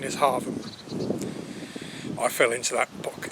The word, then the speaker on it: Hargham: now i know in the title it says hargam or hargham trust me the local pronunciation is harvard i fell into that book a few times